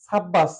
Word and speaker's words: সাব্বাস: দন্তস্য উচ্চারণ লিখতাম সাব্বাস এখানে দুটি ব এর উচ্চারণ হয়েছে সাব এটা একটা অক্ষর বাঁশ সাব বাঁশ এটা একটা অক্ষর তো দুটো বদ্ধাক্ষরের মাধ্যমে সাব্বাস শব্দটি গঠিত আর উচ্চারণটা দুটো ব এরই উচ্চারণ বজায় রয়েছে সাব্বাস তাহলে আমাদের এখানে সূত্রটা